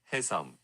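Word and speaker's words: 혜성: Hyeseong. Which means comet in Korean. Hyeseong. Comet Hyeseong. Kim. Comet Kim. It's not Hyeseong. It's Hyeseong. Again. Hey versus ha.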